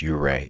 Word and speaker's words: Ouray: a quick review of uray Colorado um you I might pronounce it wrong every once in a while but it's uray is how it's supposed to be uh pronounced its nickname